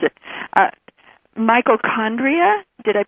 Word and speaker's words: mitochondria: Mitochondria? Did I pronounce that right? Mitochondria, yes.